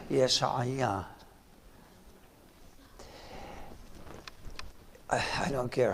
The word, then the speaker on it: Isaiah: The English say Isaiah. Neither one of them is correct. It's Yeshaya.